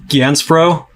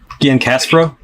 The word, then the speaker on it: Giancaspro: Is it Ganspro? Gian Caspro. Yeah. Gian Caspro. Gian Caspro. Okay. Like the correct Italian pronunciation is Caspro, but people just think my name is Caspro because my first name is.